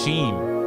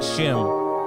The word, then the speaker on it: Sheam: It's Sheam, not Shim. It's Sheam. That was Sheam Stacks.